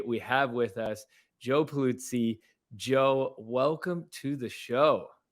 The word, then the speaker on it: Pulizzi: Today, we have with us Joe Pulizzi.